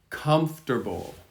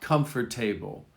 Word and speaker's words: comfortable: Comfortable, comfortable, comfortable. Not comfort table, comfortable. Hear how the accent is at the beginning, comfortable.